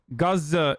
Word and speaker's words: Gaza: killed were already yes gaza is the is the actual pronunciation but like i mean